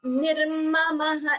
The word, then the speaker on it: निर्ममः: It should be pronounced as nirmamah. It shouldn't be ni. The dirgha shouldn't be heard because there is no dirgha there.